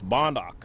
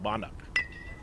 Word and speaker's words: Bondak: It's Bondak. So, giving it the wrong way initially, and now we have a correction, Bondak.